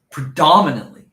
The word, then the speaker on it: predominantly: Predominantly. Dominantly. So use your accent. Yeah. Predominantly. You accent. Use it. Put an accent over the accented syllable.